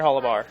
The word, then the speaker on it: Holar: welcome on board hobber and makes correct me if I mispronounced your name hollower yes sir it's uh holar holar okay good to be on